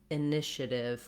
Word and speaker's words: initiative: If you start the word on that syllable, it can really help you with the rhythm and help you to correct issues that you may have with this pronunciation. Trying initiative would be my suggestion. Then you hear how this first I wrote it here as an It is an I sound like it, but it's a reduced vowel, short and unstressed.